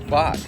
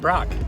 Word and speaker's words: Bock: That's Lieutenant Brock. Lieutenant Brock, right? yeah. That's a little inside thing. Some people getting his name wrong, but that's all right. It's Lieutenant Bock. No R, just right. Bock.